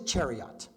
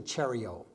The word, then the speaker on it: chariot: i must correct you the word is chariot chariot there is no such thing as a cheerio do you understand me